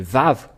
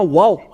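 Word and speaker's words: ו: nous voyons cela euh nous voyons bien que c'est vav la vraie prononciation mais pas waou c'est bien un vav parce que ils ont il y a ceux qui sont on créer le waouh va W c'est un peu étonnant car même si c'est waa ça se prononce vave où que vous soyez c'est toujours le vave et nous allons revoir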